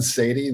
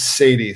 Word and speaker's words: Saady: a funny spelled name so my name is sadie the last name it's bri like indiana a n last name is sadie so it's spelled funny s like sam a